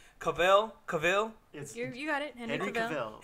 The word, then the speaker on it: Cavill: They showed the costumes, and Henry, I can never pronounce Cavizel. His last name. Cavill?